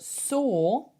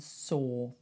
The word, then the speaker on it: saw: So weirdly, I know they are spelt completely differently, but saw rhymes with draw.